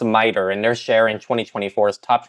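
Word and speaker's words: MITRE: video to learn how to pronounce it it's pronounced miter and they sharing 2024's top 25 most dangerous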